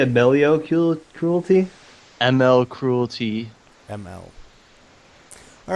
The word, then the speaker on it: Amell: It's pronounced Amell.